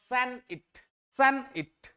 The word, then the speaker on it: sonnet: এবার সনেটকে অ্যাকচুয়ালি আগে উচ্চারণ করা হতো স্যান-ইট, এটা যেন মাথায় থাকে।